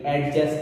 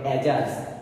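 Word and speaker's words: adjust: যদি আমরা লিখি, আমরা বেশিরভাগই উচ্চারণটা ভুল করে থাকি, অ্যাডজাস্ট বলে থাকি, উচ্চারণ হবে অ্যাডজাস্ট, ডি এর উচ্চারণ হবে না।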